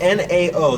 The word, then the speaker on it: NAO: lights, and these are from a company by, it's spelled N-A-O, so it's NAO.